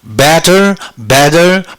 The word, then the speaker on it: better: 바 바 해서 바 바 이렇게 됩니다서워 가지고 발음을 해보면요 wat 따로따로 하면 wat 이렇게 되겠죠 wat wat B better better better 바음 해볼까요 b 자연스럽게 매다 강세를